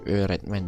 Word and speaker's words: öğretmen: Misalkan di sini ada guru, ben, guru itu öğretmen ya. Öğretmen ini bukan o biasa tapi ö, bacanya agak ditekan.